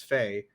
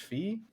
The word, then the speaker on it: Fi: pronounce that they say phi but um they say her her so her japanese name the romanji or you know the romaji for it reads f a i which is pronounced as fae and in the spanish